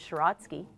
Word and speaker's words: Siracky: Siracky in Ukrainian is Shiratsky.